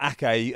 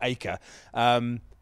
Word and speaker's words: Ake: was to ask Nathan Ake, who, by the way, is not Nathan Aker, as Dan. Nathan Ake couldn't believe that Dan Juma had said that. It is definitely Ake, not Aker.